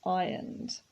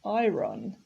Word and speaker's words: iron: don't need to be ironed notice here that the r is silent so we don't say iron it's iron you shouldn't